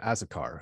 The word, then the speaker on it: Azocar: am grateful to have as a guest asakar who is one of six vice presidents with